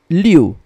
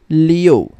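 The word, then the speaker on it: liù: letter you remember that it should be pronounced as i o u okay so you have to add a letter o in the middle so this is not read as liu but rather leo leo leo okay so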